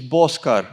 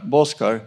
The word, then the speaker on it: Boscar: The pro- pronunciation is Boscar, Boscar.